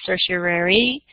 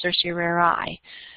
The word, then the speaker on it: certiorari: You'll hear some people pronounce it certiorari. Both are correct. Certiorari is kind of more the old-fashioned term. It sounds really fancy, doesn't it? Sound very Latin-y to have all those vowels in there.